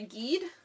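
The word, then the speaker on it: Gide: called autumn leaves by andre guide i don't know gheed i think is how you say that g-i-d-e but his quote uh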